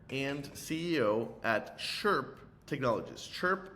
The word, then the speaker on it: Chrp: Chirp like a bird chirps, and it's spelled without the vowel, Chrp Technologies.